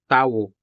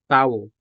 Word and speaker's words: tao: Tao has two syllables, ta and wo, tao.